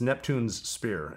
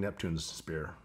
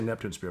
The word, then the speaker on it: Neptune's Spear: is commonly mispronounced it's neptune's spear as in king neptune's spear natural state people say neptune spear but that's you know it's the two s's in a row yeah what do you